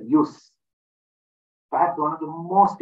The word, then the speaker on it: jus: I'll come through also the word j-u-s use pronounce it use perhaps one of the